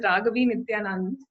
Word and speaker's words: Raaghavi Nityanand: Today we are talking with Raaghavi Nityanand.